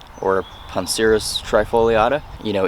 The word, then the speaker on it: Poncirus trifoliata: poncirus trifoliata you know in traditional Latin the C is usually pronounced hard but uh with you know the modern scientific uses that we use Latin 4 uh sometimes that gets a little muddled sometimes but the trifoliata right